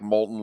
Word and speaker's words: Moulton: know how to spell Molton it's not like Molton lava that's o m o l TN all